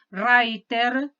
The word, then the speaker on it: Reiter: de un psicoanalista de apellido raiter se escribe reiter qué son cuatro vídeos